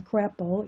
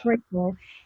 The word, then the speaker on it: Crapo: current chairman in Idaho, I pronounce his last name Crapo, it's actually Crapo, is standing in the way of even this being discussed.